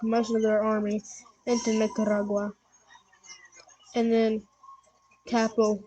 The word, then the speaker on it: Nicaragua: go now they stuck their Invasion into Nicaragua Nicaragua yeah that's how you pronounce it okay so they start their Invasion